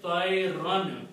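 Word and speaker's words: طيرًا: And whenever you have two fathas like that, you always write an alif there. You don't pronounce, you just write it. That's the rule of writing. So the word is tayran.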